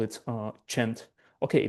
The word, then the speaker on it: CEnT-S: they call it uh Chent. Okay, this is not scent or like in Italian like C is pronounced as chi and yeah they call it chent.